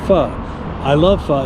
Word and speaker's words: pho: It's spelled P-H-O, but it's pronounced pho.